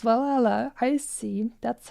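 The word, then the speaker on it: VA-11 Hall-A: letters itself, the VA11 Hall A, it's actually pronounced Valhalla.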